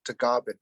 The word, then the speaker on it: Tagaban: My last name is Tagaban. In the Philippines, it's pronounced Tagaban.